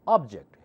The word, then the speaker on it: object: thing anything is called object here is an object that's an object okay if we say object checked part louder is a completely different word suburb I object